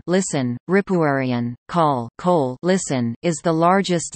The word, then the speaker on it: Kölle: Cologne, English, German, Köln, pronounced Cone, listen, Ripuarian, call, Kohl, listen, is the largest city of Germany's